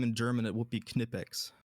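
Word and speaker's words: Knipex: Uh if you if you pronounce their name in German, it would be Kipex.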